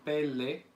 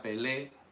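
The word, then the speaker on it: פלא: ver con la palabra pele. No se pronuncia pelé, sino pele. Doble segol indica el acento al principio, pele.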